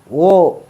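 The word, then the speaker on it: वह: ബഹുത് അച്ഛ രസോ ഹെ ഓ ബഹുത് അച്ഛ രസോ ഹെ ഓ ബഹുത് അച്ഛ രസോ ഹെ ഈ വഹ് എന്നുള്ളതിന് ഓ എന്നാട്ടോ ഉച്ചാരണം അപ്പൊ വഹ് ബഹുത് അച്ഛ രസോ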